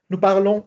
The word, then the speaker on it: parlons: Se pronuncia. Se nasaliza. Parlom. Parl. Parlons italian.